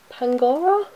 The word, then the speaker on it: Pangoro: the dark hammer with i think is pronounced pangoro I hope that's right that's what I've been